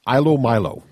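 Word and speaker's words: ilomilo: It's called, I believe it's pronounced Ilo Milo.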